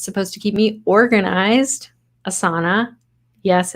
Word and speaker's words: Asana: an app that's supposed to keep me organized asana yes it's pronounced that way sadly so now I have